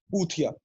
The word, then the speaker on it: Poothia: Because believe it or not, ladies and gentlemen, my surname is Puthia. I know what it rhymes with.